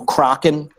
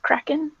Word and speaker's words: Kraken: oh I don't know kracken just just hypothetically try minute say I think it's pronounced Kraken Kraken yeah that's what I said Kraken you know like what's crackin you making fun of